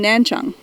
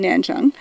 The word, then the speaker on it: Nanchang: liked which was in nanchang which at the time we called nan chang because that's how it was spelled and that's how we thought we pronounced it and i so i